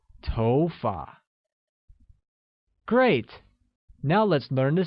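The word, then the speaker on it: 头发: like go good hair translates as TOFA and carries a mid rising tone on Oh making it TOFA great now let's learn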